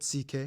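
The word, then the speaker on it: Székely: then we get to the ck people the second most populous minority yes that's how you pronounce it ck basically cousins of the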